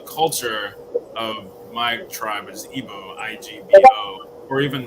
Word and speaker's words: Igbo: feel like an idiot so your tribe is pronounced IBO you don't pronounce the dude no you're the